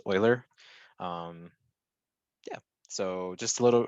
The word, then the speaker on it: Euler: kind of math subject right but it is pronounced euler yeah so just a little review from 6.1